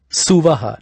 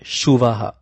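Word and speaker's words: सुवः: Suvaha, not Shuvaha.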